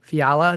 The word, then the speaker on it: Fiala: Uh, today my guest is a Lewis Central standout, Cassidy Fiala. Did I pronounce that correctly or is it Yeah, I did pronounce That's awesome because I usually screw things up like that.